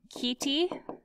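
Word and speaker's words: chaetae: or C T and I know those words don't look it's out the way that they sound so we'll write underneath that these are pronounced key T and C T okay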